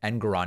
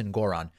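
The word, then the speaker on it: Engoron: Good for Judge Ngoron, who I guess I've been pronouncing his last name Ngoron incorrectly. Apparently it's Ngoron.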